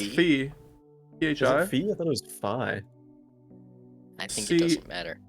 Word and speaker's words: phi: chron the correct greek pronunciation b is actually pronounced fee okay all right the anglicized version is phi though so you're pronouncing it like i'm an